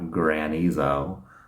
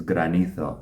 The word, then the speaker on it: granizo: You have to pronounce kind of the Spanish R. It's not granizo, but it is granizo.